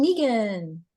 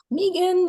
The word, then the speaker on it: Megan: Megan, then Amy George. Hi, I'm Megan. My name is spelled M-E-G-A-N, but I pronounce it Megan, so that's why I put 2 E's on the Zoom.